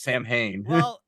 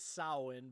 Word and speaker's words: Samhain: a Halloween fan you would know how to pronounce Sam Hayne actual terminology is sowin but for the for the sake of the